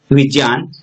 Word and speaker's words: विज्ञान: शुद्ध उच्चारण क्या है? विज्ञान।